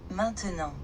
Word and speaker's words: maintenant: Attention to the pronunciation of the word now in French, that is. Maintenant.